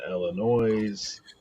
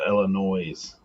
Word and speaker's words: Illinois: You don't pronounce the S at the end of Illinois. So is it this Illinois? Illinois?